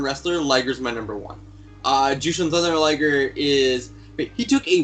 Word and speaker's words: Jushin: And then I've gone with, is it Justin Luger or Jason? Because I watched, to try and find out how to say his name, I watched a couple of his things, and someone said You mean Jason. Yeah. Who is it? Jushin. Oh, Jushin.